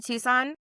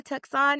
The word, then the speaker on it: Tucson: she was just like I'm new to Tukon and we were like keep don't change it like you're saying it right we're all saying it wrong keep that like don't don't change it that is probably the closest thing to the right way to say it was like really yes